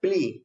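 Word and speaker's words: plea: इसका प्रोनाउंसिएशन होता है प्ली, ए साइलेंट होता है, या वैसे जैसे भी समझिए प्ली बोलते हैं।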